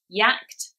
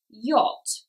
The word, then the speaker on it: yacht: If you looked at this word and tried to say it phonetically, it would probably be yacht or something like that. But we know that the pronunciation is in fact yacht.